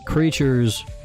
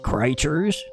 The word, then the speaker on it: Crytures: All the creatures, which by the way, it is called creatures with a Y because it's a portmanto of Crystal Creatures, which is something I always have to have to explain because otherwise people be like, "How do you say that? Is it creatures?" It's just creatures, guys.